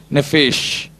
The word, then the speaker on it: nephesh: என்னது, எப்படி ப்ரொனவுன்ஸ் பண்ணலாம்? நெஃபேஷ்.